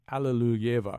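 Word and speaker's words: Alliluyeva: That's as close as an English speaker can get to the Russian.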